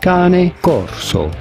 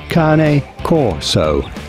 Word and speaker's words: Cane Corso: go about pronouncing it in Italian this would be said as Kane Corso in English this is usually pronounced as Kane Corso